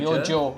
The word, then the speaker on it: Myojo: How do you say this? Myojo? Myojo, yes. Myojo?